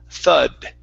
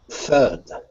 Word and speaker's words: thud: instead of thud okay th it's uh open your mouth up a little bit more th thud thud yeah there you go